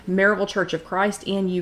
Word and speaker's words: Maryville: It's spelled Maryville, but we pronounce it Maryville.